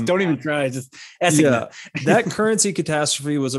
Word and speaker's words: assignat: at like the French I think it's pronounced assignat, the assignat, as we would say it in American French. don't even try. Just assignat.